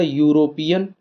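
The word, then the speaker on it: European: प्रारंभ जरूर है लेकिन जब इसका हम लोग उच्चारण करेंगे तो ये इस तरीके से आएगा यूरोपियन इस तरीके से लिखा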